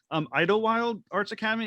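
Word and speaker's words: Idyllwild Arts Academy: pronounce it wrong, it wouldn't be the first, Idlewild Arts Academy. Am I pronouncing that correctly?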